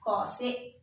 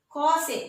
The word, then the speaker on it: cos A: But in short, we write COSA. How will you pronounce this? We'll pronounce, instead of pronouncing cosine, we'll pronounce it as cos A.